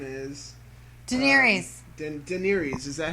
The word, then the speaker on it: Daenerys: Now, how do you say Donray's the Targaryen? Khaleesi. How do you say her name? Actually, pronounce it.